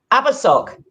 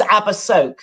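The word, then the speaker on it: Abersoch: Abersock. Abersock. Yes, occasionally known as Abersoak, but the weather is fantastic today, so let's call it Abersock instead.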